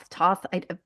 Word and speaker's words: Thoth: I don't even know how to pronounce it. Right away. Thoth Rider Waite. Yeah. Toth. These Toth. fancy ones. Thoth. Thank you. Although Are some people say Toth, but yeah. I I think Thoth, from my understanding, is the most correct, even